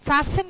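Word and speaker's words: fasten: क्या है बंद लीजिए तो उसमें टी साइलेंट हो जाता है ध्यान रखना फैशन या सीट बेल्ट नॉट तेल मी फसिन एंड टाइटन ये कौन सा फॉर्म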